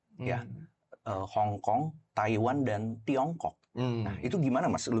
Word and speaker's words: Tiongkok: Kalau kita lihat dari secara etimologis, Mas, nama asli Cina itu adalah Tiongkok. Itu dalam pelafalan bahasa Hokkien.